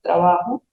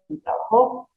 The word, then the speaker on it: trabajó: presente como en pasado, se escriben igual, pero tiene el acento, la connotación en la última palabra, trabajo, trabajó, elaboro y elaboró.